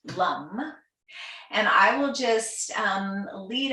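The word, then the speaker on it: LAM: So that mantra is LUM, spelled L-A-M, but pronounced LUM.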